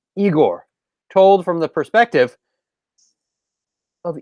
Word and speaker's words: Igor: notice he's not dibbing he's just saying igor no no it is igor not colored christian not